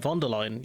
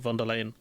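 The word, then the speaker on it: von der Leyen: the European commission president isn't it vallion you pronounce her name not velan asking European member states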